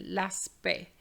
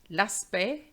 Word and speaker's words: aspect: But be careful because we have le respect and l'aspect. So here we don't pronounce the T. It's not like l'impact. It's le respect, l'aspect, but respecter.